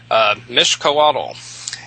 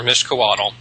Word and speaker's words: Mixcoatl: Mixcoatl, Mixcoatl.